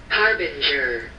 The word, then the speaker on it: Harbinger: All right, play that pronunciation. Harbinger.